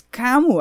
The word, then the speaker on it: Camus: philosopher what he's probably my favorite philosopher it's kamu i thought i always thought it was kemus